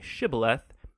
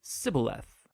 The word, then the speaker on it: shibboleth: wanted to cross to pronounce the hebrew word shibboleth it turned out that the ephraimites had grown up pronouncing that word differently so instead of saying shibboleth they would say sybileth when that happened the gili knight guard would